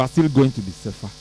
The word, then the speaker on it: Sefa: That's the pronunciation. Sefa.